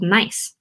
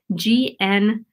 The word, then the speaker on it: gneiss: Another type of metamorphic rock that we have is called gneiss, not spelled like I'm being nice to you, spelled like G-N-E-I-S-S, gneiss.